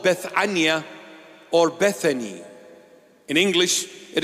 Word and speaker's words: Bethania: in a town called Bethania or Bethany. In English, it is pronounced Bethany, but in the original pronunciation, in the Hebrew Aramaic pronunciation, Bethania.